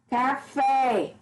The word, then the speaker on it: café: Café. Café. É uma palavra oxítona porque a última sílaba é a mais forte.